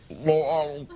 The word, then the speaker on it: Louisville: Oh, no, you can't say it like Louisville. You have to say, Louisville. Right?